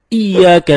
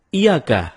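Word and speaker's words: إِيَّاكَ: temen-temen ketika kita membaca iyyaka nabudu wa iyyaka nasta'in ada yang membacanya dengan Iyakah tidak menekan huruf Ia seperti seperti sebagaimana kita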